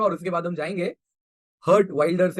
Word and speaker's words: Geert Wilders: उसके बाद हम जाएंगे हर्ट वाइल्डर्स या हीट वाइल्डर्स जैसा इनका प्रोनाउंसिएशन रहता है इस पर।